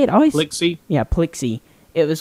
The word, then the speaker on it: Plixi: I can never pronounce Plixie. Plixie. Like a pixie and a pixel.